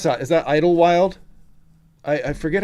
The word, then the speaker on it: Idlewild: Idlewild. Got it. Idlewild. Yep. I thought that's how you pronounced it.